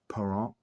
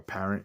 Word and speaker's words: Parent: Ed Van Imp, Wayne Connolly, Denny Hextall, Wayne Cashman, Bernie Parent, or Parent if you're here from the States, but it's I think it's Parent. I think it's spelled pronounced Parent, and McCallum.